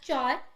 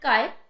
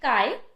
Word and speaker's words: chi: mine corrected me, because I used to initially assume the pronunciation as chai, but she actually corrected me and called it kai. So I'll follow that. So the actual pronunciation would be kai.